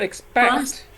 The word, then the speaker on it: expect: But expect. Expect. How many syllables? 2. And stress on the second, right?